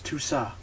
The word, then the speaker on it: Toussaint: They've signed Toussaint, is he, because he's French, his T isn't pronounced at the end of his name, so it's Toussaint.